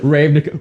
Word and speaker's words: Ravnica: they can be wrong ravnica i did not read it properly the first time i read it i was like yeah you just were putting the emphasis on the wrong syllable i think there's some